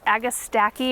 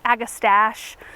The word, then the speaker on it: agastache: also it's a hyssop is agastacky or agastache i've heard it pronounced like three or four different ways i've always heard or i've always said it as agastaki so because it is